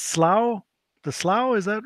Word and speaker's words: Slough: swearing that one of these days the it's pronounced Slough the slough is that right I generally say